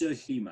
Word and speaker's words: Tsushima: So lately, I've really just been playing a ton of Ghost of I think it's Tsushima. I think the T is silent.